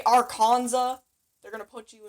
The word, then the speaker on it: Arkansas: i recommend you saying arkansas pretend there's no s in there just take the sl and if you say arkansas they're going to put